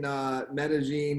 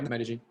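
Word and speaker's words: Medellín: So, but in Medellin, and I think I'm pronouncing that right, Medellin. Yeah, Medellin.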